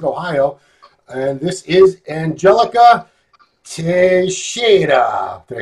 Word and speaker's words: Teixeira: And this is Angelica Teixeira.